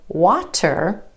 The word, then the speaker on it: water: So for example, take this word, W-A-T-E-R. Instead of water, water, water. Do you hear that flap T or the D sound?